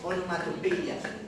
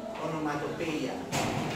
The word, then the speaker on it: onomatopoeia: Yeah, the pronunciation of that is onomatopoeia. Onomatopoeia. It's quite similar to that in Spanish, but at the final of the word is a change in the pronunciation. Onomatopeia in Spanish, onomatopeia in English.